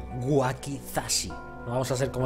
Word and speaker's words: wakizashi: eh pistola de clavos el wasaki este no lo puedo usar todavía waki o no sé qué le he dicho wakizashi vamos a pronunciar bien wakizashi no vamos a ser